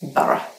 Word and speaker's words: Borough: Even though there are two O's in the word and there is a GH at the end, you actually only pronounce two syllables, Borough.